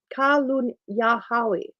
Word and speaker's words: Kalunyahawi: It is pronounced Kalunyahawi.